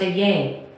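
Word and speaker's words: אהיה: AHYH is the Hebrew name for God, pronounced a-yay, Alexa, meaning...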